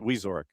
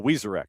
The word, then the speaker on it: Wyzorick: Or is it Wizorick? Wizorak. Wizorak. Oh, Wizorak. Okay, so second syllable.